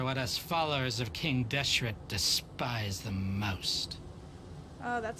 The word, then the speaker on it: Deshret: the traitors are what US followers of King deshret despise the most oh that's how you pronounce it Dia I thought that you a